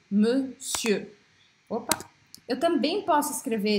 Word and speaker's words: monsieur: E da mesma forma que esse EUR, eu não pronuncio o R, e eu também vou falar monsieur, monsieur.